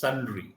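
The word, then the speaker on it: sundry: sunry it is it is called it is pronounced as sunry sunry sunre not sunr okay Sun okay one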